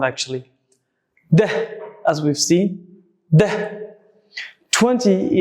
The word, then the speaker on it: deh: Try to pronounce like as I pronounce, try to imitate my sound actually. Deh, as we've seen, deh.